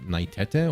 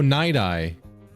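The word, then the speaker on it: Nighteye: Naitete or Naitit? Oh, Night Eye.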